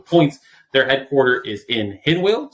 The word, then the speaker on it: Hinwil: their headquarter is in hinwill switzerland that's how it's pronounced uh powered by the